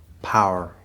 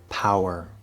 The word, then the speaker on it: power: Power. Power. Note that power actually is supposed to be two syllables, but you can R-color it and make it sort of like one syllable.